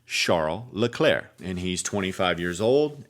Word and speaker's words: Charles Leclerc: Now, you might say Charles Leclerc if you're from America, but I do want to respect his name because his name is pronounced thusly because he's from Monaco, Sharm El LeClaire and he's 25 years